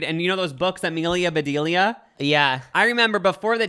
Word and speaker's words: Amelia Bedelia: books to myself, and I thought it was Amabedilla. Like I was pronouncing it this whole different way, but then I heard it was called Amelia Bedelia, and I was like,